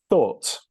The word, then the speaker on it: thought: They are actually just pronounced or, like in the British English pronunciation of or, okay?